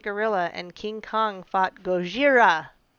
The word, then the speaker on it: Gojira: shinji hijuchi shin gojira gojira that's why they say it like that they're not actually just totally messing up our language that's actually what they call them we're such jerks for